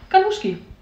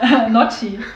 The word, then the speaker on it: Gnocchi: Ganuschki. Ja, Gnocchi. Nee, wie spricht man das aus? Gnocchi.